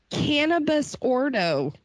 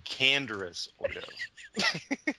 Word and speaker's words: Canderous Ordo: Cannabis Ordo. Cannabis Ordo. Which is actually Canderous Ordo.